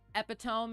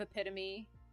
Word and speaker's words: epitome: them out loud uh epitome instead of epitome deter mind instead of